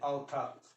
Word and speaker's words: author: ए के बाद अगर यू आए इसका तो सीधे आ होता है। जैसे एग्जांपल लीजिए, ऑथर, AUTHOR, ऑथर। एग्जांपल लीजिए, डाउटर, DAUGHTR, क्या लिखते हैं? डाउटर, AU आया ना, तो दोनों मिलके ये वाला उच्चारण हो गया।